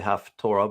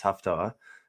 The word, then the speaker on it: Haftarah: Now, sometimes people say Haftorah, but that's not the proper pronunciation. It's Haftarah, just so you know.